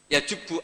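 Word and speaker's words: يَجُبُّ: islamu yajubbu ma qoblah itu bacanya bukan yajibu tapi apa yajubbu a yaqtou lah kalau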